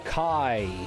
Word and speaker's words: chi: We were looking for Kai. It's not Chi but it's not is pronounced Kai.